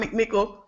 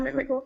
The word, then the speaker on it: McMickle: McMickle. Am I pronouncing it right, Dr. McMickle?